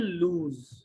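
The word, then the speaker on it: lose: এরপরে you will লুজ, টাকা উচ্চারণটা করেছে কি যেন, লস বলেছে আর কি, এটা লুজ হবে উচ্চারণ।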